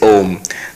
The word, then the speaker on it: Om: wrong in Sanskrit grammar when you have a and u together but the rules of sandhi it becomes o so actually when you